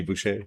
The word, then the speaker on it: Boucha: Uh Mr. Bush got here. That's how you pronounce it.